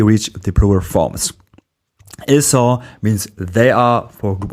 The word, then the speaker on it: sont: In sont, the final t is silent as it is mostly in French, and the vowel is nasal.